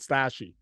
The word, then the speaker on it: Stashii: It's called STASHII is how it's spelled. It's called Stashy.